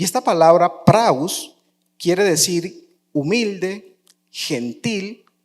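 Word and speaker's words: πραΰς: Pues resulta que eh esta palabra eh manso significa eh vamos a traerlo, es una palabra griega que eh transliterada al español eh se pronuncia como praus. Y esta palabra praus quiere decir humilde, gentil o apacible.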